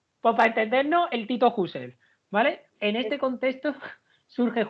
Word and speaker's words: Husserl: Mari Carmen Mari Carmen Perdóname por mi pronunciación del alemán de husel vale Yo sé que no se pronuncia así pero es para entendernos vale porque es queel es husel se pronuncia así se pronuncia así yo siempre había escuchado mis amigos que hablan mejor que no no no si pones la boca como una I y dices una u Cómo es entonces husel vale vale Yo yo